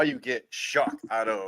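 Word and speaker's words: Shough: I don't know how you get shock out of Some people have been saying Shuck, right? Yeah, it is. Shock. That's what That's what it is.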